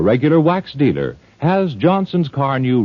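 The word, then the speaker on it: Carnu: The finish won't break down if you care for it with a good cleaner and polish like Johnson's Car New.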